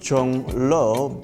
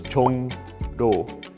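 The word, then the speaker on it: 종로: So in that example, it's Jongro, and the iung in the 받침 position, that's actually not changing. What's changing is the initial consonant in the following syllable, where ro changes to no.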